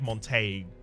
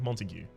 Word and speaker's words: Montague: It's not just pronounced like Montague or anything like that. It's like Montague, as in Capulets and.